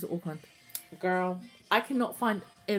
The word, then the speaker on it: Auckland: And then he pronounces Auckland. Girl, I cannot find a video of him saying Auckland anywhere. I'm still researching it. But he says Auckland like Oakland.